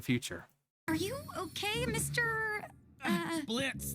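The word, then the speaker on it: Blitzø: Blitz? The O is silent.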